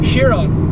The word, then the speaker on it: Chiron: Chiron.